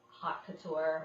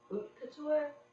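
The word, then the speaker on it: haute couture: to do sessions called hot Couture I guess the proper way to pronounce it would be OT Couture I don't know it's a French oh the h a u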